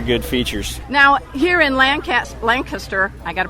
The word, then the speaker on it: Lancaster: Now, here in Lancaster, I got to pronounce it right, Lancaster, it's like there's one